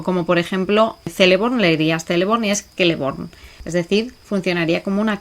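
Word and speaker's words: Celeborn: vamos a encontrar que la c siempre es como una K o como por ejemplo leería celebonies kelleborn es decir funcionaría como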